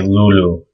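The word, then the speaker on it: لؤلؤ: wow this means Pearl but in modern Arabic they'll just say Lulu so there is a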